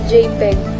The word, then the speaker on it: JPEG: on their file names gpg this is pronounced as JPEG and is the short